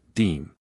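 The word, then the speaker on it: disme: tiny silver coin called a half dime, pronounced deem.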